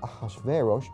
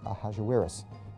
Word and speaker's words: Ahasuerus: Now that was hard for the Jews to pronounce, so they said Ahasuerus. We know him as Ahasuerus.